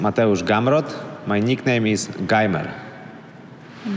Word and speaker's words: Gamrot: to make it official my name is gamrot my nickname is gimer one more time my name is gamrot my nickname is gamer all right down two